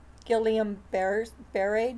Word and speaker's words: Guillain-Barré: It's spelled Gilliam, but it's not pronounced that way. So it's, if you look up it, Guillain-Barré disease.